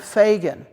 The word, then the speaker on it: Fagan: belonged to a family named Fagan, spelled like Reagan, so I say it like Reagan.